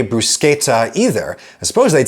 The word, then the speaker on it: bruschetta: Bruschetta and bruschetta both only use sounds that are available in mainstream American English, but the latter is closer to the original